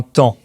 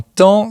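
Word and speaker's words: taon: qui pique les gens ça s'écrit t a o n mais ça se prononce comme temps c'est une image qui est souvent utilisé pour décrire Socrate un temps qui poursuivait les Athéniens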